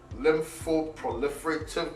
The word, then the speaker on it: lymphoproliferative: So there's this term that I've always found a problem saying, lymphoproliferative diseases.